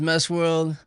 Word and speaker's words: Messworld: Yeah, so my name is Messworld. Yeah, it's MESWRLD, Messworld spelled like Juice World.